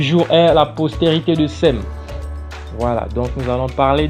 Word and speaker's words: Sem: Cham, Sem et Japhet. Cela dépend de l'appellation et des prononciations. Ok? Mais on va dire Sem ici. On va dire Sem. Comme les Sémites. Les Sémites. Comme les langues sémitiques.